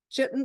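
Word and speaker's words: chitin: formed by layers of chitten I believe it's pronounced chitten A protein that makes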